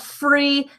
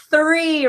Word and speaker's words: three: d the three sound the th sound not free not three not tree but three right it's so difficult and